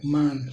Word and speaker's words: Mhan: E pelo que eu pesquisei, a pronúncia correta é Man mesmo.